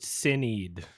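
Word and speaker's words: Sinéad: It's pronounced Sinead.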